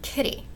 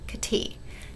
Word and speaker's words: kitty: So in English, this little guy might be called a kitty with stress or emphasis on that first syllable ki. And if you mess the stress up, it doesn't sound right anymore. You can't call the same little guy a kitty. That's not right. It's kitty, not kitty.